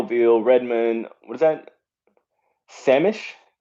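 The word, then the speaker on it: Sammamish: redmond what is that samish is how you say it samish i'm not even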